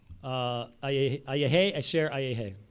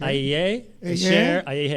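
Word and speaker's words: אהיה אשר אהיה: Ayehe, asher, ayehe. Can you repeat it again? I just gave it to you. Let's Okay. waste time. Yeah. Okay. Ayehe, asher, ayehe.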